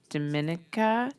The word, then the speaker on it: Dominica: because you moved to Dominica. Yeah. Okay. It's all about how you say it. Otherwise, people think it's Dominicana and they're thinking Dominican Republic.